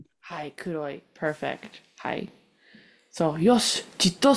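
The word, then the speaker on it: 黒い: So you read this word right here as kudai, but it's pronounced a little bit different for black. As kuroi. Hi, kuroi.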